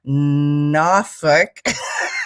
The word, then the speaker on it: Norfolk: As I said, she's in her second weekend of SCOTUS at Generic Theater in downtown Norfolk. I was corrected last week. I totally butchered it on purpose.